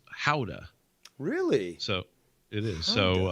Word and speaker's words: Gouda: know like cow milk gouda as opposed to goat milk but regardless in the in the us it's pronounced gouda and to the dutch it's howda really so it is